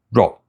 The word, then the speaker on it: 肉: 是单音节的，这是肉，不是这是肉这意思。